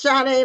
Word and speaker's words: Sade: So, it's Shade like the singer.